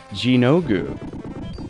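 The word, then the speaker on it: Gynoug: on outrun etc this is a side-scrolling shooter pronounced gino goo called wings of war in the u.s.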